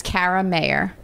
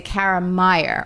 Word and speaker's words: Kara Mayer: Before I got married, especially, I was Kara Mayer, but most people would say Kara Meyer or Kara Meyer or Kara Meyer sounds Karen like Karen or Kathy or Carol.